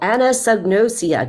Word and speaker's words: anosognosia: And man, I'll tell you, that's a mouthful, anosognosia.